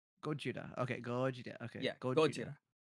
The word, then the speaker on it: Gojira: How do you How do you say the actual name of Godzilla? It's Gorgeia. So, it's Go Gogira. Yeah. Gojira. Gojira.